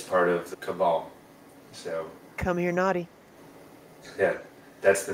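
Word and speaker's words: Comirnaty: come here nauy but if you phonetically pronounce it it's come here naughty c o m i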